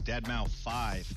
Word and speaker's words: deadmau5: is your good friend joel professionally known as deadmau5 yes that is the correct way to pronounce it hello friends we're here to talk